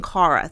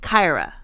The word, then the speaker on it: Kyra: incorrectly I keep saying Cara someone left us a comment a few people have left left us a comment saying it's Kai like Cobra Kai Kyra and I keep saying Cara like car like Tara